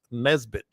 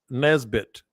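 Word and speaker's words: Nesbitt: final winner his name Co Caleb is Bryce Nesbit nbit TT how much money does he have uh is's a question what how how do you say his name Bryce Nesbit n n is and Nancy e SB TT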